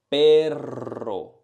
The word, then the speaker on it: perro: Perro, perro. Try to exaggerate the sound. Perro. Of course, when we say it in Spanish, we don't say perro. But that's gonna help you to say it right.